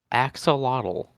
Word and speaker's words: axolotl: How do you pronounce the name? Is it axolotl? I'm pretty sure it's axolotl. Yeah. What a strange name. Hmm. This is not as big of an area as I thought it was. Let me Uh, look it up. Axolotl. Axolotl. Pronunciation. It is. Axolotl.